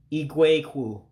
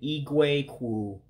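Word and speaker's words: igwe okwu: So the O is what you would drop in a microphone. So you would say Ee-Gway Kwue for microphone. Again, Ee-Gway Kwue, microphone.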